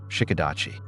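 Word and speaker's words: Shiko-dachi: Shikadachi. That's spelled s h i k o d a c hi.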